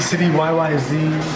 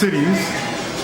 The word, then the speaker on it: Cityyz: They say Cityyz, Cityyz, City YYZ, you know, but it's Cityyz.